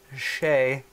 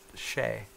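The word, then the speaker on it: Xe: catch on right guys X II could easily be pronounced che alright I'm team che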